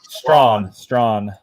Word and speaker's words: Strachan: Mike Strachan. Strawn. That's how you say it like that.